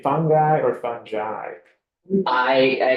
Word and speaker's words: fungi: me too me too there actually are three corre correct pronunciations it can be fungi which is I guess British or fungi or fungi and I've actually heard all three are legitim and acceptable yeah so we mostly say